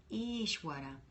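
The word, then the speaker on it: Ishvara: down the street and be like ish ish ish water no she took not ish waters ishwara ish what I like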